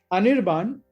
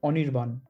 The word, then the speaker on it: Anirban: i was like okay anirban in english german say german stress the i part but in bangla it would be anirban the a is basically a w the first a is always a w and yeah yesterday when